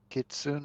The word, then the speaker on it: kitsune: one of those people kitsune is how it's pronounced in japanese i i used to